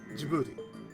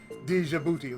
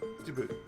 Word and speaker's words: Djibouti: what's funny about that that's exactly how you're supposed to pronounce that jibuti there's some people who I don't know why they have to put the D in there like Djibouti like no it's jouti it's JY you know it's